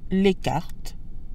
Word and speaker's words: les cartes: Just as in English, we'll add an S to the end of the nouns to make them plural, although the S is silent in French.